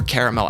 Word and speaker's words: caramel: Caramel apple or caramel apple, either pronunciation works.